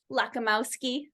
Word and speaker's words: Lakomowski: yeah you did really good say it again lakamowski you got it yeah you're from you're from